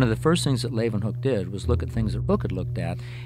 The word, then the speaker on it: Leeuwenhoek: L-A-Y, lay, ooh, then, they pronounce it with a V, hook, Leeuwenhoek.